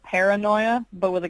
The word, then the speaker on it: Kara Noia: I'm like, oh, it's Paranoia, like paranoia, but it's me.